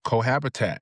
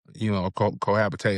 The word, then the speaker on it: cohabitate: Do you know how to cohabitat? Because we're gonna, cohabitate, however you pronounce it.